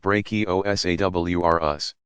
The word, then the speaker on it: Brachiosaurus: to be called brontosaurus and Brachiosaurus pronounced brachio s.a.w are us which weighed around 80 tons